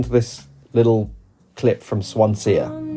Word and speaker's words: Swansea: she's written called Swansia spelled Swansea but pronounced Swansia.